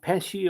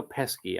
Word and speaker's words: Pesci: Joe Pesci, is it pronounced Pesci or Pesky? I think it's Pesci.